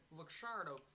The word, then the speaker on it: Luxardo: So I have been mispronouncing it for sure. No. Luxardo. It's a liqueur, actually. Luxardo. It's got an X in it.